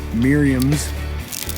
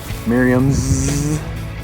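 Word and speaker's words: Merriam's: get one of these mirams gobblers did I say it right sir mirams mirams the S I added the S Miriam's meaning I've got one tag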